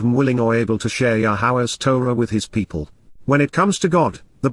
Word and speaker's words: Yahowah: Prophetically inquires, Naum, Yahowah, Yahowah, the proper pronunciation of Yehovah, our Eloah, God has directed in his Torah, teaching regarding his Ha-Yer, existence and our Shalom, restoration.